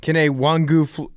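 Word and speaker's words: Kene Nwangwu: Kenna Wangu. Okay. Kenny Wangu. Okay. Kenny Wongu over the cuckoo's nest.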